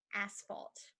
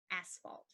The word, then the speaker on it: asphalt: the last one is asphalt asphalt an asphalt is the black concrete used to make roads or our parking lots yeah so you could say it's his fault I fell on the asphalt it's his fault I